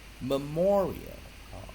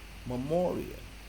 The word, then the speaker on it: memorial: 个是 memorial memorial，当然有的人会念 memorial，有的人喜欢把这个前面当成重音念 memorial。好，那我们看这个音标解释完，念 memorial 不是 memorial，我相信还